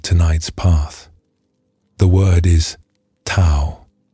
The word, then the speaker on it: Tao: The word is tao. You may also hear it pronounced dao.